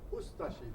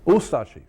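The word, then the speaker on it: Ustaše: We pronounce it Ustashi. We pronounce the U and de-emphasize the ashi. Ustashi. Ustashi.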